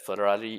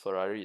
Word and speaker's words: Ferrari: hi iso lamborghini yeah just that ferrari is shorter lamborghini is four syllables ferrari is three syllables hi rodrick saving yellow